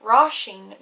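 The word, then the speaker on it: róisín: rasheen means little rose if it didn't have the father on the eye it would be pronounced like ration there's quite an emphasis on the eye ones that has the father well there's an emphasis but also changes pronunciation now for oh father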